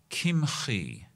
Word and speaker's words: Kimhi: Commentary was written in the 1200s by Rabbi David Kimhi. Uh, it's spelled like kimchi, but he was not a food item. It's Kim. David Kim.